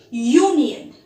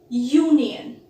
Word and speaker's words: union: Here, U is pronounced as Y-O-U.